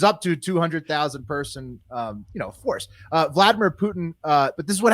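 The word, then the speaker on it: Volodymyr: In response to that, Ukrainian President Vladimir Zelensky, it's really just Vladimir is how you say it. It's just spelled totally different with 2 O's.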